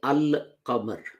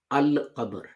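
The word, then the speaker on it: القمر: But if you add al to it, it becomes al-qamar. Al is pronounced, lam is pronounced, and lam of al is pronounced in full, al-qamar.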